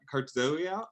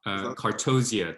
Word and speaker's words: Cartozia: Is that Cartzoia? Cartozia Tales.